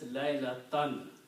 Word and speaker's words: laylatan: So by itself the word is laylatun, but when it comes after a verb, it will be pronounced as laylatan.